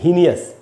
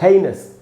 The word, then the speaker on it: heinous: तो दोस्तों आप देखिए, मैंने उच्चारण लिखा है यहाँ पर, इसको हीनियस नहीं बोलेंगे, इसको हम पढ़ते हैं हेइनस।